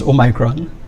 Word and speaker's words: Omicron: A new variant of concern, Omicron, some pronounce Omicron, first diagnosed in South Africa, has been announced by the WHO.